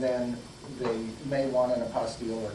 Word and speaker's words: apostille: they may want an apostille or not and it's spelled t-i-l-l-e it's very much close to apostle but it isn't and it's just think